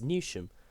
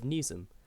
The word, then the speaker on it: Newsham: asked to ensure they're not making the mistake of pronouncing the station's name as Nim and are instead saying its proper name of nuum with Lee Cooper Northern area lead conductor team manager for the Northeast saying the locals are telling us to make sure we pronounce new them correctly it's really important to